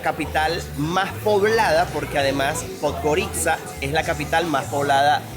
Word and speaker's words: Podgorica: Uno la lee en castellano y dice Podgorica, pero en realidad se dice Podgorica.